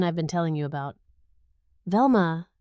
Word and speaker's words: Velma: "Velma," she repeated, pronouncing it Velmua with a slight grimace as though the name itself tasted unpleasant.